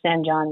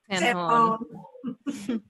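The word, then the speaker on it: San Jon: Can somebody tell me, is it San Hon or San John Road? San Hon. Okay, that's what I thought, but then you never know.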